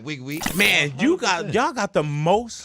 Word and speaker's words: Nwigwe: Wigwe? 100%. Toby Nwigwe. No, it's Toby Wigwe.